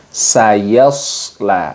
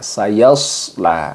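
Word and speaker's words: سيصلى: bagian-bagian yang sering keliru jadi seharusnya yaitu dengan sayashla sayashla Nah itu itu kan berbeda ya jadi makhrajnya itu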